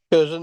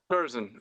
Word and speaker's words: Curzon: We've got Paul Curzon, is that how I pronounce it? Paul Curzon. yep. Curzon, yep. That's the one. Curzon, okay.